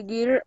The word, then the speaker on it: girl: Tiene que mover la lengua un poquito hacia la garganta. Girl. Hacia. Ok. Girl como I en español. No, es otra I.